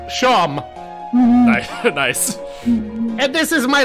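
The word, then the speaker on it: Seam: better spent about yourself the name SE pronounced sham nice and this is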